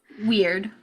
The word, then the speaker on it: wyrd: the I'm not not entirely sure how to pronounce this from the book but the word wyrd tag weird w y Rd weird wonderful weird it has